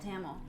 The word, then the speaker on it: Tamil: Is that how you pronounce it? Tamil? Tamil, I think. Tamil, yes.